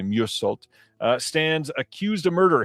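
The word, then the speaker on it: Meursault: Uh this is the Francois Ozone film and uh it says in French Algeria, office clerk Merult is that's definitely not how you say that. It's probably Musult uh stands accused of murder.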